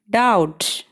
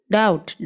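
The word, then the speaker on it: doubt: ഉദാഹരണമായി ബി എന്ന ലെറ്ററിൻ്റെ കാര്യം എടുത്താൽ ബിക്ക് പിന്നിൽ എം വരുമ്പോഴും ബിക്ക് മുന്നിൽ ടി വരുമ്പോഴും ബി സൈലൻ്റ് ആയിരിക്കും. എമ്മിൻ്റെയും ടിയുടെയും ഉച്ചാരണമാണ് അവിടെ വരിക. എക്സാമ്പിൾ നോക്കിയാൽ തം, ക്ലൈം, ഡാറ്റ്, ഡൗട്ട് എന്നിങ്ങനെ.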